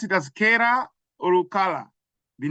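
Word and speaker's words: Calla: Do you pronounce it as Kara or Kala, the name of the street? C-A-L-L-A. If you're Italian, you're going to say Kala.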